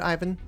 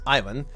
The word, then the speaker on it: Ivan: Oh, and very quickly here, obviously from Magallan's perspective, I will be pronouncing the name as Ivan, even though I, as a Croatian, do know that the name is supposed to be obviously pronounced as Ivan.